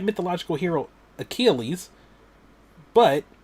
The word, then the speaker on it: Achilles: And like it said mythological hero Achilles, but he did not know how to pronounce it. So he was like mythological hero Halus.